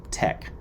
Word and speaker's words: TeX: it's a particular type of markup script called tech and that's spelled t-e-x and was the precursor to latex